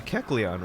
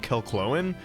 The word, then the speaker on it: Kecleon: oh yeah so uh kecleon right that's how you say it right because as a kid I said Kellen I told you I'm